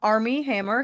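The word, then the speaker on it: Armie Hammer: But we have Army Hammer. Am I pronouncing that name right? Right. Yeah. Okay. Army Hammer.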